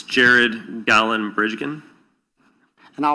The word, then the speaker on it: Bridegan: It's Jared Gallen Bridgen. And I'll represent to you that it's pronounced bride again.